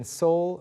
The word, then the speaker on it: Seoul: 네, 한 음절처럼 as if Like it's just one one syllable.